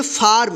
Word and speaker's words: फार्म: फार्म। यानी फा के बाद आधा र का उच्चारण होगा, ठीक है।